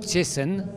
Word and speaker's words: Cieszyn: Alors c'est très difficile de dire que c'est exactement comme ça, parce que les accents polonais sont un peu différents. Moi je le prononce Cieszyn. Cieszyn, voilà.